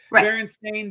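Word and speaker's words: Berenstain: deal you're misremembering it Baron stain Bears you mispronounced it it was always stain I don't buy into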